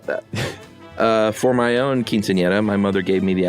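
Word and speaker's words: quinceañera: and your pronunciation of quinceanera was great nice as the era is a soft R sound um no need to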